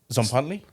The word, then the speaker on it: Tzompantli: and what about uh your how do you pronounce the other band uh zley zley yeah Zant yeah it means a a